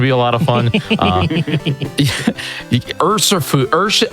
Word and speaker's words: Urshifu: Get Urshifu. So that's gonna be a lot of fun. Urshifu.